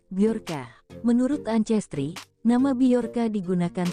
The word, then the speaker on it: Bjorka: Bjorka diucapkan Bjorka.